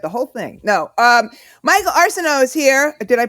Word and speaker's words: Arceneaux: Michael Arceneaux is here. Did I pronounce it correctly?